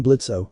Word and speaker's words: Blitzo: I'm Blitzo, the O is silent, and this is my surly but incredibly effective daughter."